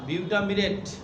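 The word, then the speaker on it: butamirate: হ্যাঁ, একটা হচ্ছে ডেক্সট্রোমিথরফ্যান, আরেকটা কি বিউটামিরেট সাইট্রেট, BUTAMIRAT বানানটা। BUTAMIRAT, না না, বিউটামিরেট, বিউটামিরেট সাইট্রেট।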